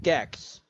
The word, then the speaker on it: Gex: Gex. Okay, Gex. Gex. It's pronounced exactly how you think it is.